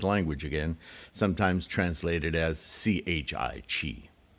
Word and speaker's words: qi: again sometimes translated as c-h-i-t you might be tempted to say chai but it's pronounced Chi I was introduced to